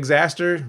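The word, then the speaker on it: Xastir: if this works so xaster rhymes with disaster is kind of an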